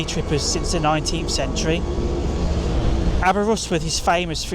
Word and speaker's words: Aberystwyth: Today we're going to be exploring the stunning Abbera Rusworth. Yes, that's actually how you pronounce it as a local or its nickname, Abba.